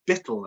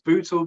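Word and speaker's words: Buittle: So near, well, I pronounce it Bittle. I've heard it pronounced numerous ways, Bootle, Bittle, however you want to describe it.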